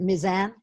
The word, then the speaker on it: Mizan: You pronounce it Mizan? That's right, yeah.